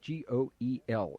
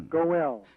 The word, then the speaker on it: Goel: I think that's how that's pronounced, G-O-E-L. Is that correct, Dr. Thompson? Goel.